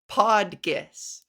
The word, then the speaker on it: PodGis: them hey it's pronounced podus two syllables really hit that G it's a hard G it's a hard G